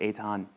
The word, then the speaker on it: Eithan: is and even though it's spelled Ethan it's pronounced Aton um but you know